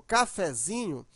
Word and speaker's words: cafezinho: tônica é o Fé Mas quando você usa um derivado dela por exemplo cafezinho a sílaba mais forte Agora não é mais o fé e sim o Zinho chamando a palavra ó cafezin